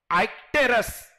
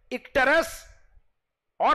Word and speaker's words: icterus: इसके similar word आप एक याद रख लो, इट इज आइक्टेरस. ICTERUS. इक्टेरस और आइक्टेरस जैसे भी प्रोनाउंस करोगे. अमेरिकन और ब्रिटिश का थोड़ा सा डिफरेंट है. यू can pronounce this as आइक्टेरस और इक्टेरस.